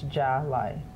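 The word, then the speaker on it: Jahli: Yes, so on paper it looks like Jolly. Okay. But it's Jolly.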